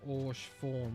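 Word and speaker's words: Haurchefant: Horchi form, pronounced Orsh form with a silent H, is based in French.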